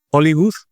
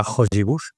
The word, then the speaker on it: Hollywood: un modelo en castellano se encuentre eh Hollywood, no diga hojibut, obviamente, sino que que lo pronuncia adecuadamente.